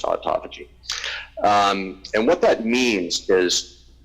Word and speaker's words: autophagy: It's an unfortunate pronunciation. It should be called autophagy, but it's not. But then it would be clear what it means. Basically, it's the eating of self. Phagocytosis, phagy, eating, auto-self, but it's for some reason pronounced autophagy.